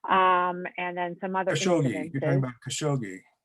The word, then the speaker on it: Khashoggi: And then some other Khashoggi.